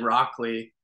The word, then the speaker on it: Rockoli: and then I and because I've always said Rockley, but a lot of people struggle with the it's a made up word, so they pronounce it differently, and it doesn't bother